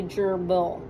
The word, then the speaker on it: gerbil: sound out words so I know this first part is going to go together and it's going to say jur because of that J sound and then the second syllable then is going to be a closed syllable because why is it closed it's followed by a consonant so that's going to be gerbil okay so Bob the gerbil